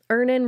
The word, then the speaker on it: Earnin: Download Earnin on the App Store or Google Play, spelled like earning money without the G.